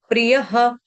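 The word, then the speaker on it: प्रियः: भक्त समे प्रिय समे प्रियहः य पूरा और य के आगे जो विसर्ग विसर्ग का उच्चारण ह या ह दोनों में से कुछ भी आप कर सकते हैं।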